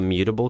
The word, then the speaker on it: mutable: I don't really like the mutable keyword from Rust because it just looks like it's pronounced as mutt, and I don't like that